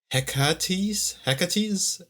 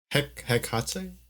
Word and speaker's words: Hecate: even though I don't know how to pronounce her name. Hecate? It's Hekate.